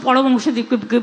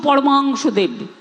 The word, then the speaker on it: পরমহংসদেব: রামকৃষ্ণ পরমহংসদেবকে স্বামী বিবেকানন্দকে বলি স্বামী বিবেকানন্দ, রামকৃষ্ণ পরমহংসদেবকে বলি আমরা রামকৃষ্ণ পরমহংসদেব, ঠাকুর রামকৃষ্ণ পরমানন্দ পরমাংশ, রামকৃষ্ণ পরমাংশদেব, আমরা ঠাকুর রামকৃষ্ণকে বলি।